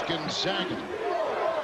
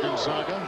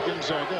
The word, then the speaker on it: Gonzaga: And it is Gonzaga. Oftentimes they're Gonzaga. We're talking especially about John Stockton, but it is Gonzaga. A little change in the pronunciation.